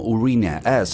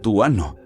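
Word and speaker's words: Uranus: Los astrónomos dicen que deberíamos pronunciarlo como urina as en inglés, no tuano, aunque no puedo decir que en un acento diferente cambie mucho.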